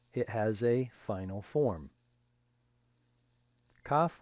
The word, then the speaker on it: Kaf: Kaf with a dagesh, dot, in the middle is like our K sound, K.